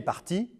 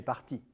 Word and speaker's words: partie: Il est parti, i, elle est partie, I e. même prononciation mais orthographe différente. Il est parti, elle est partie.